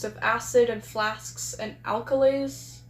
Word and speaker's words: alkali: test tubes of acid and flasks and alkalies, right? Alkali, that's how it's pronounced.